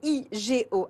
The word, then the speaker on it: OUIGO: le fondateur de ouigo est-ce que je le prononce bien et ouigo et oui Go je vais l'appeler pour ceux qui nous écoutent en radio et en podcast parce que vous me demandez souvent de le faire c'est ewigo avec vous on va